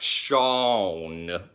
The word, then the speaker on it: Sean: You can pronounce it like Sean, like that.